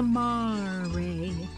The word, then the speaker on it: mare: moon has a see how do you say the e it's a Mari